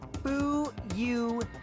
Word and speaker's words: Fuyuhiko: My first name is pronounced Fu-Yu-Hi-Ko.